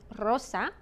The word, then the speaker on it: rosa: If it begins the word, as in rosa, or if it's two double R's in the word, como perro, then you roll your R.